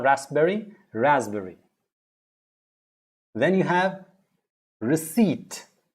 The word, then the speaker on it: receipt: raspberry then you have receipt not received it's not p receipt receipt all right with that